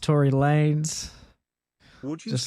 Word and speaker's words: Tory Lanez: It's pronounced Tory Lanez.